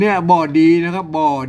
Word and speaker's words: บ่ดี: เป็น กรรม พิเศษ โบราณ ไม่ ใช่ ว่า อ่าน ว่า บีบ นะ ครับ อ่าน ว่า บอดี้ นะ ครับ บ่อ ดี อัน นี้ เป็น กรรม